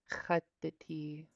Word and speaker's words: khattiti: Khattiti. Gratitude. Gratitude. The tea. Okay. The underline X is pronounced in the back of your throat. Just make a little friction with the back of your tongue.